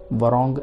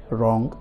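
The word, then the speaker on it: wrong: actual में English language में एक रूल है, अगर कोई वर्ड W से स्टार्ट होता हो और उसके फ़ौरन बाद अगर आ रहा है तो आप W को साइलेंट करोगे, जैसे कि इसे वरॉन्ग नहीं कहना है, रॉन्ग, right, wrestler, rest, रॉन्ग, etcetera,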